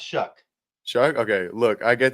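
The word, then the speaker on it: Shough: He says, "Look, I get that Tyler Show isn't the flashiest name out there, but I'm genuinely excited about Chuck." What is it? It it's it's spelled SH, but it's pronounced Shuck.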